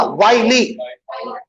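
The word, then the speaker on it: wily: Villi नहीं बोलना, वाइली।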